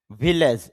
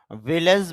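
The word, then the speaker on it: village: ভিলেজ, যদি আমরা ভিলেজ বলি তো শুদ্ধ উচ্চারণ হবে ভিলিজ, অর্থ হলো গ্রাম।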